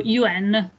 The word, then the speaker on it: yuan: Quello è lo yuan. Yuan. Che si scrive, mi sembra, yuan, e quindi si legge yuan. Sì. Si pronuncia yuan.